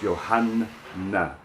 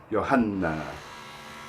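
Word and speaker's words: يوحنا: You have to hear that N double. When you double consonants in Arabic, it has a different effect. You actually stretch them out. The duration of pronunciation is a very important factor in the Arabic language, in both consonants and vowels. In this case, we're talking about a doubled consonant, the N, in Yohanna.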